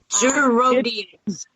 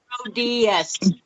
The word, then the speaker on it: Gerodias: Gerodias. It's pronounced like it looks. It's pronounced like it looks. I don't buy it. Yeah. Great. Gerodias. There you go. Gerodias.